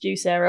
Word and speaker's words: Juicero: It's still pronounced juice arrow.